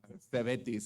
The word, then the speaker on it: CEVETIS: We're trying to figure out how to pronounce that. The school. CEVETIS, it's known as CEVETIS.